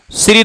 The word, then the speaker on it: श्री: सीधा ही लिख दू श्री धन क्या हो जाएगा इस हो जाएगा श्री श्री श्री शुद्ध उच्चारण इसका शरी है ध्यान रखना यह संयुक्त व्यंजन है तोड़ के लिखते हैं